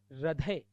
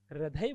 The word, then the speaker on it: हृदय: याद रहेगी यह बात रदय हृदय बोलते हैं लोग होता है हृदय ऋ आएगा ना कि र आएगा हदय श्रंखला नहीं होता